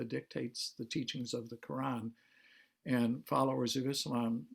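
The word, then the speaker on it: Qur'an: from the arabic because when it's spelled k-o-r-a-n it's very easy to just call it the quran and it's quran with a slightly trilled r and it was presented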